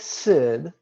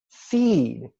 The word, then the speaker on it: sid: now it looks like Sid as in Sid visous but it's we're pronouncing the consonants like it's English but the vows like they're Spanish so it's pronounced seed as in Johnny apple seed see see see